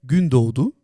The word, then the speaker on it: Gündoğdu: Danach sage ich Gündoğdu. Das zweite G ist Ja. stumm.